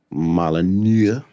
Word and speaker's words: Molyneux: Peter Molyneux, Molyneux. the N is silent.